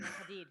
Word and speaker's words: Hadid: Hadid.